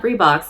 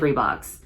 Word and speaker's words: Reebok: made me realize that I have pronounced the name of this company incorrectly my entire life. Like, if you had asked me 2 months ago if it were Reebok or Reeboks, I would have said Reeboks.